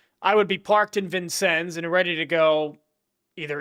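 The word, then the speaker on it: Vincennes: I don't think that's how you pronounce it. I know that's not how you pronounce it. It is Vincens. Oh, okay. Even though it's French. Vincens. Well, French origins commonly use.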